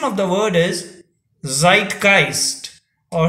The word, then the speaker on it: Zeitgeist: it is spelled as z-e-i-t g-e-i-s and the pronunciation of the word is zeitgeist or zeitgeist zeitgeist or zeitgeist meaning of the word is